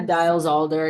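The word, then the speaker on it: Diels-Alder: do you say it dies Alder deals yeah dials Alder Yeahs dials yeah so yeah for that topic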